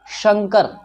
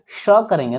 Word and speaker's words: शंकर: शंकर, बच्चे कहते शंकर, जो कि गलत है। शंकर, शंकर, तालव्य श का उच्चारण तालु की मदद से होता है।